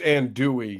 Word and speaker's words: andouille: I think it's andouille. You don't pronounce the L's.